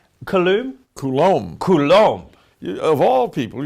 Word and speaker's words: Coulombe: Good afternoon, Charles Coulombe. Coulombe?